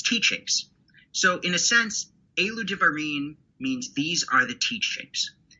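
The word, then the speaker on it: אלו דברים: rabbis, and it's the Elu Devarim. Am I saying that correct or near correct? That pronunciation was perfect. Well, then let me say it again, but a drum roll this time. Elu Devarim.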